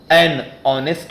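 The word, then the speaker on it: honest: मैन एंड माननीय leader यह सब ह से शुरू हुए हैं लेकिन इनका उच्चारण हिंदी के स्वर वर्ण से होता है इसलिए हम इसके साथ एन लगाते हैं यहां ह साइलेंट होता है स्टूडेंट कहां-कहां अन को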